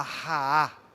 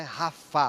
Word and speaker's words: Raá: Jeová Raá, o meu pastor, Jeová Raá, não é Rafá, Rafá é o Deus que sara, que pastor é Raá, né? R-A-A-H, Raá, Jeová Raá.